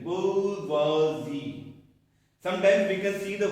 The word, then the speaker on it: bourgeoisie: bourgeoisie जैसे हम लोग पुअर बोलते हैं ना, पुअर poor, downpour.